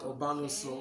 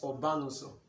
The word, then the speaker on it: Obanuso: And then the real pronunciation of my surname is Mr. Obanuso. Not Obanuso, Okay. it's Obanuso.